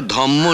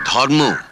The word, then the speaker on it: ধর্ম: কথাটা ধম্ম নয় ধর্ম, ধর্মাচরণ।